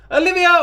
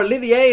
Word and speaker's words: Olivier: Olivia, or Olivier, as people seem to be pronouncing her name, is, I mean, she's